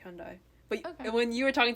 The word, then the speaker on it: Hyundai: It's Hyundai. Hyundai? Right? Yeah, I was pronouncing it right all along. You maybe made it more of a die, which most people do.